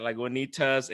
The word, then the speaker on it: Lagunitas: So today I'm drinking Lagunitas. Yeah, there you go. I said it right, Lagunitas, and this thing is called Little Something Ale. Holy crap! I think I just butchered the crap out of that.